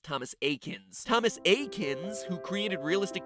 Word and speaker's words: Thomas Eakins: Pokemon reference there because his name is pronounced Thomas Eakins Thomas Eakins who created